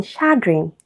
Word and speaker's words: chagrin: And sh as in chagrin, option d.